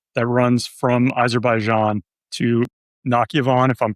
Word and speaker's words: Nakhchivan: So this is effectively like an infrastructure logistical corridor that runs from Azerbaijan to Nakhchivan, if I'm pronouncing that correctly. Nakhchivan, yeah.